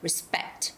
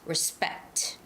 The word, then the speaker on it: respect: first syllable stress and respect this is a second syllable stress respect respect and lastly the word